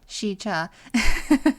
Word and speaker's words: Sica: Unexplainable natural phenomenon resulted in fear-inspired legends and prompted the area to be named Sica, pronounced Sica, by the Santee Sioux, and it means bad.